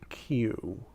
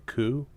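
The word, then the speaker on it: 九: it's pronounced or alternatively kou but point is it can be Q which sounds like the letter Q so yeah there's your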